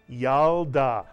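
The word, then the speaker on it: ילדה: you get yalda mitsuyan the shiva under the lamin is silent it tells you to simply add the lamin to the preceding vowel and letter the yod and the patak to create the first syllable yao the second syllable da and if you can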